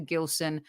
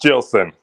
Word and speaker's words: Gilson: to pop in after Gilson uh Gilson am I pronouncing your name correct first uh it's jillson I knew it gosh